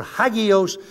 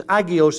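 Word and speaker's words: ἅγιος: Greek word agios or hagios they drop the H and pronunciation as agios in the New Testament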